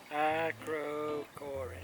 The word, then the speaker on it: Acrocorinth: Acrocorinth. Is that how you pronounce it? Acrocorinth.